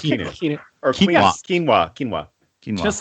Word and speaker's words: Keanu: It's pronounced Keanu.